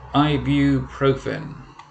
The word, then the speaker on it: ibuprofen: first one is that one and this is pronounced ibuprofen this is made by a company called heritage